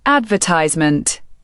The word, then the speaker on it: advertisement: British English says advertisement. American English prefers advertisement.